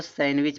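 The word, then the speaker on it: sandwich: है कह रहा है जब किसी वर्ड में एन के बाद डी हो तो डी का उच्चारण नहीं होता है। एन के बाद अगर डी आएगा तब भी डी का उच्चारण नहीं होगा। ठीक है? तो देखो यहां भी है इसको लोग सैंडविच पढ़ते हैं। देखो एन के बाद यहां देखो डी है। जब डी है इसको सैंडविच पढ़ा जाए।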